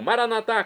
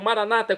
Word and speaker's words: Maranatá: E agora eu clamo, Maranatá, como dizemos nós católicos, ou maranata, como dizem nossos irmãos separados, os evangélicos ou protestantes, não importa a pronúncia, o significado é o mesmo.